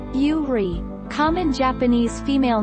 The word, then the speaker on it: Yuri: Pronounced Yuri, common Japanese female name that may be written with the character for lily.